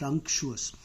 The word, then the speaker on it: unctuous: n c t u or U.S it is pronounced unctuous if you are a GRE student all these